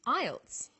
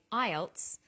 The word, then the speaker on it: IELTS: We pronounce it as a word. So we say IELTS not I E L T S.